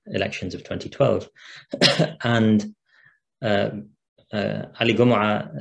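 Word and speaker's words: Gomaa: and ali gomorrah it's pronounced gumrah very often because he's an egyptian and the the egyptians pronounced the gene in that way and um are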